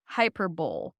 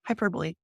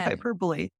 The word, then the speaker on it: hyperbole: b o e yep hyperbole wow I'm just dumb okay it's a weird word it doesn't seem like it should be pronounced that way but yeah hyperbole again the Canadian education